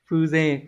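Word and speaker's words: 風情: nghĩa số 4 này từ này là Phong Tình đọc là phu dê cách đọc hơi đặc biệt các bạn lưu ý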